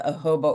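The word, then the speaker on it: jojoba: So, I'm really excited about the Hoba oil. And that is a really strange pronunciation for a word in English. I know it's not typical. I don't know of another word like that.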